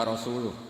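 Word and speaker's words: رسوله: Allah itu terbebas, gak urusan dengan orang musyrik, wa rasulih juga gak ngurus Rasulnya. Kalau sama Rasul saja tidak ngurus, apalagi sama kita. Terus sama Sayyidina Ali dibenarkan, yang benar bacanya itu wa rasuluh.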